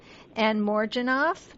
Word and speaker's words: Anne Morjanoff: written by your partner Anne Morjanoff. Did I say that correctly? Is that how you say her name? You said it absolutely perfectly.